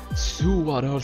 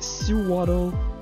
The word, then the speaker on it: Sewaddle: J'ai jamais su comment prononcer son nom. Sewaddle. Je pense que c'est Sewaddle.